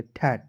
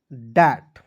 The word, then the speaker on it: that: सारे ऐसे दोस्त हैं जो TH का प्रयोग थ के रूप में करते हैं। ठीक है, और टी का ट लिखेंगे, ए का उच्चारण आई के रूप में करेंगे ठैट, जो कि क्या है दोस्तों गलत तरीका है। देखिए TH का प्रयोग आपको याद रखना है, TH का प्रयोग द के रूप में करना है।